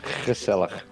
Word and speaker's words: gezellig: Gezellig. To play Stardew with you, I find very gezellig. Oh. Yeah, because the English way of saying it would be just gazella, but it's gazella.